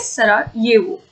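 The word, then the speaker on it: Sarajevo: ये जे है लेकिन उसको ये प्रोनाउंस किया जाता है, इट इज सरायेवो।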